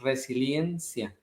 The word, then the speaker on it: resiliencia: La palabra correcta es resiliencia, con I, resiliencia.